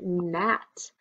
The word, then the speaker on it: gnat: And that is spelled with a G, and we don't hear that G sound.